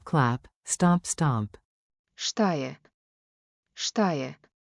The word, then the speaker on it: Šta je: Šta je? Now slower, crisp, shish, in S.